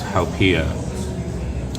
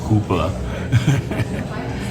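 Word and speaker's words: haupia: kind of make was hiia back then I mispronounced it I called it hoopa and Al also instead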